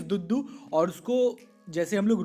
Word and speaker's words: duddu: यहाँ पे DUDDU, okay, the pronunciation is दुद्दू।